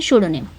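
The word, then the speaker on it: pseudonym: लिखना ही लिखना है पी साइलेंट रहता है एस ई यू डी ओ शूडो हो गया एन वाई एम शुडोनिम पी लिखना है लाइक निमोनिया जैसे निमोनिया की स्पेलिंग आप लिखते हो ना निमोनिया पढ़ते हो पी लिखते हो उसी तरह ये भी है सा आपको पढ़ना है लेकिन पी लिखना पड़ेगा पी साइलेंट है यहां पे ठीक है सो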